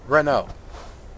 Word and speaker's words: Renault: Renault.